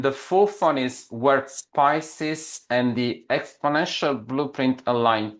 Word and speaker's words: Pisces: Yeah, Pisces. Did I pronounce it correctly James? Yeah, you did. Pisces as in the zodiac, the sign of the zodiac.